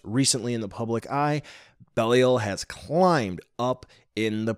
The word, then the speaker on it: Belial: For pronunciation purposes, we are going to go with Belial.